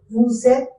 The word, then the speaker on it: vous êtes: And why we are pronouncing vous êtes again? So there is E is a vowel, so that vowel sound must be connected with the previous consonant sound. So that's why there is a linking of the vowel and the consonant sound.